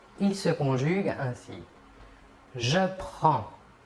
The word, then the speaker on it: prends: les trois premières personnes le s final des deux premières personnes ne se prononceront pas mais s'écrivent passons maintenant aux trois personne